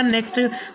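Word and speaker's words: knock: इसके बाद का नेक्स्ट रूल है, जब के बाद एन आ जाए तो के साइलेंट होगा।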